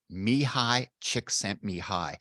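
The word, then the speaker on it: Mihaly Csikszentmihalyi: I actually know this fella and I can actually pronounce his name now. Mihai Csikszentmihalyi.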